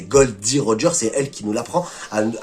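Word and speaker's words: Gold D. Roger: surtout du docteur K c'est la première personne à prononcer correctement le vrai nom du roi des pirates Gold Roger par au début on pense tous que c'est gold Lord Roger donc en fait c'est Gold D Roger c'est elle qui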